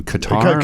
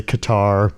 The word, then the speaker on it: Qatar: it's very ambiguous and depending on like where you are in the world it's pronounced differently.